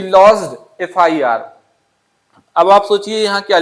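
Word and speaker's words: FIR: तो यहां पे जब एफआईआर का प्रोनाउंसिएशन करेंगे तो जो पहला लेटर है एफ उसको जब आप लिखेंगे तो पहले क्या आएगा? ए आएगा। तो यहां ए आएगा तो यहां क्या होना चाहिए?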